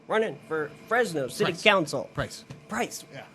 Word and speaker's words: Preis: Preis. Yeah. Why do I think I always say that. It's spelt a little wrong, but it's Preis. It's Jeremy Preis.